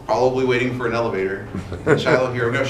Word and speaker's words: Shiloh: Back when the book Shiloh came out, like that kid's book, everybody knew how to pronounce it, but that's since faded. It's Shiloh.